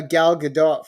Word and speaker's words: Gal Gadot: subject right and I have you doing a Gal Gadot for me soon yeah thank you for pronouncing her name right that's great and this